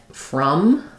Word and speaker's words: from: V sound and then from again we have another o that says schah so it's going to be the um chuah sound thinking about it like from um and you want